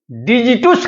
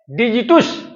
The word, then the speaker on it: digitus: Latin भाषा में उंगलियों को डिजिटुस कहा जाता है। DIGITUS, डिजिटुस या डिजिटस। 2 प्रकार का इसका प्रोनाउंसिएशन है।